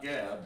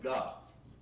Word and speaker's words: gob: Not gab, but gob, because that's how you pronounce it.